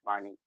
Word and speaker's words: Marnique: I Marinique breaking hear it you. down. I always say Marinique's name wrong. It's Marnique. That's why, But like, it's a lot of people I know.